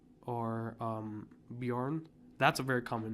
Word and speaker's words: Bjorn: The J in their language, I hope I'm not getting this wrong, but it's like a lot of the J's mean a Y. So it's like fjord or Bjorn or something like that.